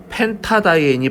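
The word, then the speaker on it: pentadiene: 근데 펜트다이엔이라고 하는 발음보다는 펜타다이엔이 발음하기가 편하기 때문에 펜타다이엔 이렇게 해서 이렇게 A자를 추가 집어넣어 가지고 이렇게 이쁘게 적어줍니다.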